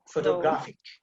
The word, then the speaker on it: photograph: You see the emphasis on the first syllable.